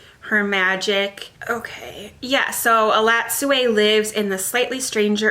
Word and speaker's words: Elatsoe: from Books and Lala as a recommendation, is Elatsoe. I think I'm finally pronouncing this correctly. I've been saying it wrong before. Elatsoe by Darcy Little Badger.